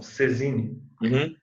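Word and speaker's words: saisine: Ó, o fato de haver a transmissão pela Cesine, Saizine, que eles escrevem, mas eles pronunciam Cesine, a transmissão ela não importa a aceitação.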